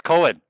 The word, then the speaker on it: COEN: is that how you say it yeah it's cohen yes so cool i really like dream theater